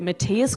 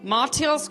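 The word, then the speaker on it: Mathias: you're here to learn Australians don't know how to pronounce the finance minister's name is it Matias Corman Matias Corman it's actually marus Corman did you know Adam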